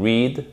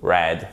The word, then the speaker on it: read: Vous savez que ça fait to read, read, read. En verbe irrégulier. Ça s'écrit exactement de la même façon, mais il y a une différence de prononciation. Attention, to read, read, read.